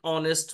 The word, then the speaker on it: honest: with h like no we say an honest man where we do not pronounce h there we will use an